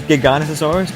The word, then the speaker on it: Giganotosaurus: I personally pronounce it as Giganotosaurus, but I don't know about you guys, so yeah.